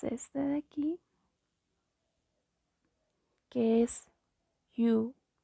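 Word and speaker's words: ㅠ: Igualmente como hicimos en las vocales U, igual tienes que redondear los labios U. Y aquí pues también es con la Y, que es así, sería como you, you, you.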